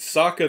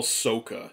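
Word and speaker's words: Sokka: katara they got right saka they call soka soka oh come on you didn't watch the show if you're calling them that you didn't watch the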